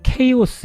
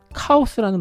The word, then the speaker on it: chaos: 한번 제가 살펴볼게요 자 영어 발음은 케이스지만 흔히 우리는 카오스라는 발음이 더 익숙하시죠 같은 단어입니다 자 한글로 한번 번역을 해서 보여 드려 볼게요 자 이렇게 혼돈이라는 카오스라는 말을 좀 많이 쓰긴 하지만 영어 발음대로 하면 케이스로 일단 발음을 하고 있기 때문에 케이스로 계속 말씀을 드릴게요 자이 케이스의 기능이 무엇일까요